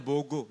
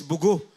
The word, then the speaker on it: Bogo: Sabi nila bogo no it's bugo. Ganun ang pronunciation non sa bugo.